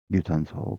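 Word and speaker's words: 有酸素: 유산소. 근데 조심을 해 줘야 되는게 이게 유가 장음이에요. 그래서 유산소 이렇게 또 발음해 주시면 되겠고요.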